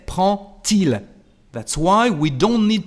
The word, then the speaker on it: prend-il: And the pronunciation of the letter D is like a T. So, prend-il. We say prend-il.